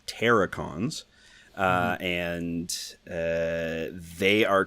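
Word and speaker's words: Terrorcons: I guess it's called it's spelled like Terror but it's pronounced like terracons yeah so even on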